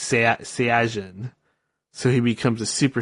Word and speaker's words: Saiyajin: Or in Japanese, they say it different. They call it a Saiyajin. They say Saiyan in English, but in Japanese it's Saiyajin.